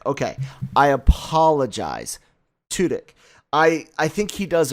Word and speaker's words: Tudyk: pronounce his name appropriately it's tutic tudyk okay i apologize toodik i i think he